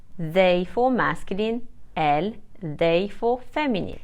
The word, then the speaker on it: elles: to address people formally ill and L are pronounced the same as the singular subject pronouns ill and El this means that I won't pronounce ILS or El IL is used to